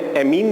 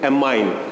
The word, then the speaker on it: ammine: हिंदी में आप देख रहे हैं एमीन, जिसे हम इंग्लिश में प्रोनाउंस करते हैं AMMINE, that means एमाइन। एमीन नहीं है, क्योंकि एमीन जो है